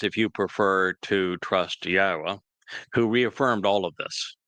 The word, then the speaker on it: Yahweh: Yahweh is the proper pronunciation of the name of our Elohah God,